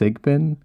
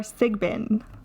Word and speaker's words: Sigbin: you should say it I think it's just sigbin I think all right I'm not the expert on pronouncing things though anybody knows so this uh week crypted Court is for sigbin from the Philippines uh